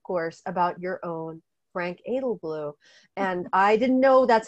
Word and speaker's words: Edelblut: about your own frank edelblut and i didn't know that's how you pronounce his name i didn't realize the t was silent i i've learned that